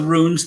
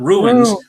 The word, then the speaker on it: rune: themselves and it's and it's pronounced rune it's not ruins ruins are broken down buildings ruin room correct once